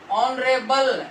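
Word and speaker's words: honorable: Next word है ऑनरेबल, लिखा सबसे पहले एच गया है, लेकिन साउंड किसकी है, ओ की, ऑनरेबल, ओ इज वाउल, इसलिए एन, ऑनरेबल पर्सन।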